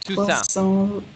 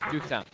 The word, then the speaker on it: Toussaint: So in French, what you have to do, you basically just drop the last couple letters of the word, and that's you just pronounce it like that. So it's Toussaint.